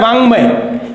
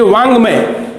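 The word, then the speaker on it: वाङ्मय: इसका उच्चारण होता है वांग्मय। ये है वाक्मय, ये वांग्मय, क्योंकि ये जो उच्चारण है ये ड नहीं है, ये ङ है, वांग्मय।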